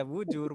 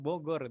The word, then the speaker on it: Bogor: Kayak Bogor itu kan tulisan Arabnya biasanya bujur kan gitu. Jangan dibaca bujur, Bogor gitu.